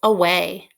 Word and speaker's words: away: it on your board away is an interesting word because the first a makes the schwa sound like ah and then the long